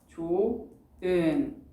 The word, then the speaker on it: 좋은: 참 좋은 너 라는 말을 할 때 이 좋은이라는 단어를 조흔이라고 발음을 하는지 아니면 조은이라고 발음을 하는지 잘 생각을 해보세요, 여러분. 뭐가 더 익숙해요? 맞아요. 여러분 대답 잘 해주셨어요. 조은이 훨씬 더 익숙하죠. 우리는 이미 무의식적으로 발음할 때 이렇게 히읗을 탈락시켜서 발음을 하고 있는 거예요.